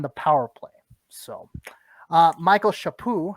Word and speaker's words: Chaput: So Michael Shapoo, I said Chaput earlier, but the T is silent, so forgive me for that.